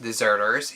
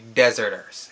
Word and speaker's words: Deserters: the kingdom of the dezerter's it is not pronounced deserters if you listen carefully to the movie they do say dezerter's actually King arm says it when he was